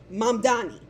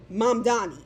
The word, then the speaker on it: Mamdani: And then for Cuomo to continuously mispronounce his last name is some fuck shit. Even as Zohran interrupted him, and he said, look, Mamdani, that's my name. Mamdani, that's my name. Mamdani, that's my name. You keep mispronouncing it.